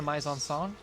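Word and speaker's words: mise-en-scène: but they see their mizen Byzantine or my Zahn song the correct pronunciation which is just like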